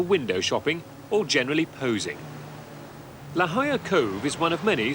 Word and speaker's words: La Jolla: It's spelt La Jolla, but is pronounced La Jolla.